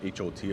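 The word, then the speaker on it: haute: They spell it not like H-O-T hot dog, but H-A-U-T-E, you know, with a little flair, like hot dog. Like hot couture.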